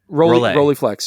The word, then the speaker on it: Rolleiflex: Rolleiflex, yeah, like a Rolleiflex.